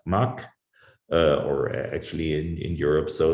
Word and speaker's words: Mach: german ancestors so essentially you call it mach if you're in europe but americans are usually unable to pronounce it so they call it mac like johan sebastian bach would also be called back in in american english well horrible but anyways